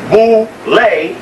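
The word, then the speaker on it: Boulé: go to the bullet known as boule pronounce who lay the mean is here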